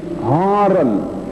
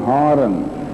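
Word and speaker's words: Haran: the desert and they went into Haron h a r a n Haren and Abram's father dwelt in the land of Haron or Haron some people would like to pronounce that but Abraham grew up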